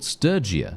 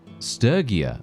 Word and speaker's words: Sturgia: I I thought they were called Sturgia. Sturia, right? instead of Sturgeia. Apparently, Sturgeia is the official pronunciation for this uh for this faction.